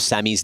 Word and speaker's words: Sammy: We also did get the pronunciation of Sammy's name. It is Sammy.